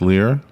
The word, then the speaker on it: Lir: Maybe pronounced Lear.